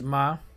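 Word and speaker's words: Mem: numerical value is 40 pronunciation is mah comes from the Hebrew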